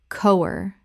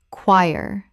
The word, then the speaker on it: choir: Common mispronunciation, co-wer. Correct pronunciation. choir Two syllables. The ch makes a k sound and the o i makes a y sound.